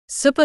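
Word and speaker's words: スーパー: Supa means supermarket. It comes from the English word super. But the Japanese pronunciation is long, even sounds supa.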